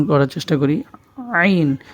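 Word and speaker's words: ع: উচ্চারণ করার চেষ্টা করি আইন গলার মধ্যে একটু নিচে বুকের দিকে যে জায়গাটির মধ্যে আমাদের সকলের একটু ছিদ্রের মত থাকে একটু জায়গাটা নিচু থাকে সেই জায়গাটার মধ্যে আমরা আঙ্গুল দিয়ে উচ্চারণ করার চেষ্টা করি আইন আইন এরপরে হরফটি হচ্ছে গাইন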